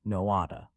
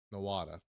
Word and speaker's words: Nowata: This and Nowata. Nowat, I don't know. Let's see what AI says. The correct pronunciation is Noata. Nowata.